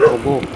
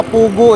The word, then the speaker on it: Pugo: Pero yung tinutumbok natin mga kapadyak, papuntang Pugo. Pugo mga kapadyak ha. Yung iba kasi ang pronunciation nila Pugo eh. Pugo ha.